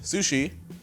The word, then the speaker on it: SusHi: Tokyo 2024 the event Sushi is pronounced by the way like sushi spelled like sushi it has a capital S and a capital H though which is very confusing